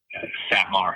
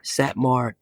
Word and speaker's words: Satmar: There are Orthodox Jewish traditions, including the Satmar. Am I pronouncing that right? Satmar. If so, would you pronounce it for us? Satmar. Satmar.